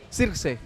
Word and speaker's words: Zirkzee: Harusnya Zirkzee gitu kan. Oh. Iya. Tapi secara spelling atau pronounce Belanda Zirkzee. Sirkse.